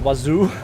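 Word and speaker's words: oiseau: Wazoo? Fucking wazoo. Fucking wazoo. Right, but I really didn't want to learn French. It's not wazoo, it's wazo.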